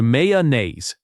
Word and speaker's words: mayonnaise: Many learners say every syllable slowly, but natives blend it into mayonnaise.